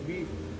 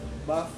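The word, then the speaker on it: boeuf: Actually sa French, pati yung beef, hindi beef. Ano? Ah, Beef. buff bourguignon.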